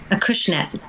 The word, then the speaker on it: Acushnet: And Collective Souls is at 59 Main Street, in a town in Massachusetts that I can't pronounce. Acushnet.